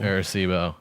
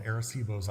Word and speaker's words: Arecibo: How is his pronunciation? of Terrible. Arecibo.